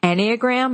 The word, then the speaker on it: Enneagram: this right so okay was I pronouncing it right anagram is that right that's right yes it's something I feel